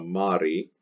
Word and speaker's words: mari: That means it will decline like a third declension neuter I stem, where its ablative singular ends in the letter I pronounced E, so mari.